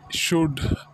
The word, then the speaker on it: should: Next hai, should. S-H-O-U-L-D, should. L silence ho jayega, theek hai? L ki awaaz nahi aayegi.